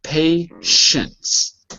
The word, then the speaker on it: patience: It looks like patient, but it's spelled patience.